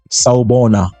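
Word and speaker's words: Sawubona: is in Zulu from South Africa which is pronounced saona hope your week started off well welcome to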